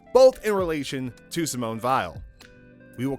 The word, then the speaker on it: Weil: died of malnutrition vile yes it's pronounced vile sounds like a connection to vialism eyes sides look up vialism and came up with two results both in relation to Simone vile we will call this